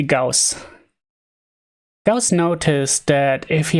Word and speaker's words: Gauss: yeah uh ghost ghosts i'm not sure how it's pronounced in english but since he was a german as far as i know it should be gauss does notice that if